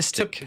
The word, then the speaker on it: solipsistic: It's not solop. It's solip.